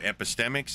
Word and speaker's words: epistemic: EPI, epi. Yeah, epi. Stemic, like a tree stem. Stem? Stem, like a tree stem, like a branch, like a stem. Yeah. Epistemics. Okay, good. Now define it. What epistemics?